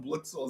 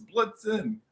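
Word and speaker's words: Blitzen: I was like on Blitzel. It's Blitzin.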